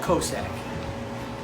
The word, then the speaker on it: Cosaque: closely closely closely it's called Cossack and that's the final answer how do you pronounce